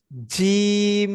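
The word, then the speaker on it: جيم: জিম, জি। শিন, জি। ইয়া। দেখবেন আপনি উচ্চারণ করবেন জিম, সিন, ইয়া, জিম, শিন, ইয়া।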